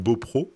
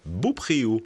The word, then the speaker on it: Beaupréau: sont encore plus rares à prononcer le nom de la commune Beaupro et pas Beaupréau.